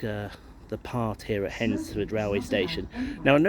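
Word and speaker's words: Hednesford: it's headford it's not the D is silent um so it's actually pronounced henford rather than henford but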